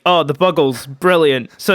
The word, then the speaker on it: Buggles: radio star by the buggles which i never knew that that's how you pronounce that name okay uh i thought for ages it was the bugles but it's a play on the beatles okay okay and they